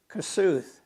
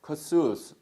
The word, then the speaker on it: Kossuth: So, Kuth, how do you pronounce the county name? Kossuth. Kossuth.